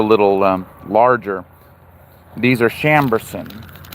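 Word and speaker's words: Chambourcin: These are Chambers, spelled with a C. C H A M B O U R C I N Chambers and they are noted back to I think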